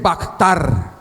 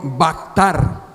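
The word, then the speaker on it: בחר: una palabra hebrea que significa esto se dice bactar diga conmigo vactar bactar vea ktr si se pronuncia bactar Eso quiere decir seleccionar decidir escoger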